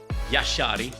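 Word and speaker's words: Jashari: Rodrigo, Kovacic, O'Reilly, you have Bremer, Singo, Kabor, Alison, Becca, Yashari, sorry, Yashari. That's apparently how you say it.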